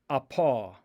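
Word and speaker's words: ἀπό: From is apa. Apa. These are the letters alpha, P, omicron. Apa.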